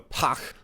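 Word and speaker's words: Pagh: Klingon ship which is the puck spelled with a GH you really get that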